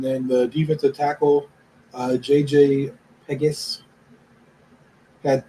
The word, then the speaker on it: Pegues: JJ, I don't know how to pronounce this. It's Pegues.